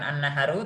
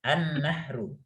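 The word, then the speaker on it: النَّهْرُ: Nah, itu bacanya bukan an-naharu tapi an-nahru.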